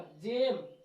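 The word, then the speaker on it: gem: य जी के बाद है तो इ का उच्चारण य पर क्या होगा जेम क्या हो रहा है जी का उच्चारण क्या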